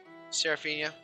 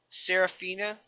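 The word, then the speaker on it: Seraphina: familiar to me uh seraphia or I can't I can't say it right yeah you really are bad at that I know well I can do Anna or the Amma but I can do Sarah yeah she's got her main name and her other character's name saraphina did I say it right y there you go okay Co yeah so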